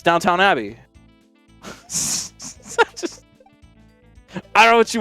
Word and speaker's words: Downton Abbey: Abby you see me Downton Abbey I'm like no I don't you're saying it wrong it's an Abbey it's downtown it's Downtown Abbey I don't know what